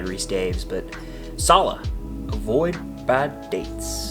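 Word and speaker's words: Rhys-Davies: John Rice Davies, that's how I pronounce it. I know it's probably Reese Daves, but Sala, avoid bad dates.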